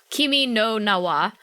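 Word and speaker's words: 君の名は: uh your name or kimi no one uh kimi no nawa um as it's pronounced as it said in uh in uh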